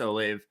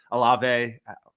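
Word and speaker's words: Olave: walker jamison williams chris o'lave alave however you want to pronounce it i think it's a lava it's how you pronounce it but um i'm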